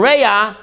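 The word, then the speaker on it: רע: Reya, in Hebrew, modern Hebrew, Biblical Hebrew, Reya, chaver is the lower level.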